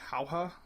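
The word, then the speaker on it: Jauja: site he saw it at can it's called haha which is spelled j a uja a uh Stars VI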